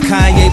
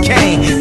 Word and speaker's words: Kanye: Now all I need is y'all to pronounce my name as Kanye, but some of my plastics still say Kane.